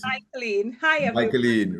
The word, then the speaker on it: Michaelene: It's Michaelene.